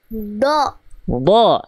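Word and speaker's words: ضاد: Do. Do.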